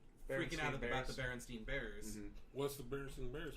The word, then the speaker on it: Berenstain: Excuse me, it's Berenstain.